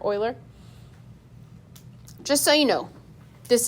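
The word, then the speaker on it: Euler: 718 and this was a constant name from The Swiss mathematician Leonard o Oiler is how you say that EU l r Oiler just so you know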